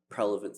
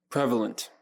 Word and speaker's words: prevalent: And so that's become a very prelevant thing for me. Prevalent. You keep saying it wrong. Prevalent. Prevalent. Prelevant. You said twice now.